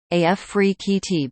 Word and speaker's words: Afrekete: from home customer service Africa at work from home jobs pronounced AF free QT before we get started